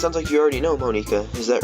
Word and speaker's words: Monika: Just so you know, I'm pronouncing her name Monika. I know there's probably a lot of people that call her Monica, but this is a Japanese game, so I'm pronouncing how it would probably be pronounced in Japan.